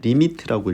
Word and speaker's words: lim: 읽을 때는 리미트라고 읽어요.